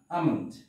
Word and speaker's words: almond: একটি শব্দের মধ্যে এল থাকবে কিন্তু তার উচ্চারণ হবে না, যেমন এ এল এম ও এন ডি, এই যে এখানে এল আছে কিন্তু তার উচ্চারণ হবে না। আমন্ড, আমন্ড শব্দের অর্থ হচ্ছে বাদাম।